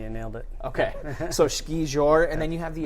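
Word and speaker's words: skijor: When a dog is pulling you when you're doing, is it ski jour, or how do you, is that your pronunciation? You nailed it. Okay, so ski jour, and then you have the adaptive race too, which is really, really cool.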